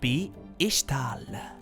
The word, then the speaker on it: Ixtal: وصلت فرقة من الفرق الاستكشافية تلك إلى منطقة مخفية في شرق شوريما تدعى بإشتال، تكتب بالإكس لكن تنطق إش، رايوت واي.